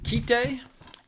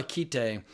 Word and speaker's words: Kite: It's two syllables. But holy the first time I saw Keite, I didn't realize I was watching the censored version.